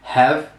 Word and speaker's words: have: Então, I have, como eu disse, o H no começo das palavras em inglês muitas vezes tem som de R. Então, é have, you have, he, she, it has.